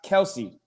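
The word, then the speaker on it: Kelce: and he said that his name is not pronounced kelsey it's travis kels kels doesn't that doesn't that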